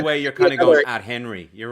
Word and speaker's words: Athenry: How do you say do you lose the H? Do you say Athenry? Athenry. Oh, Athenry. There you go.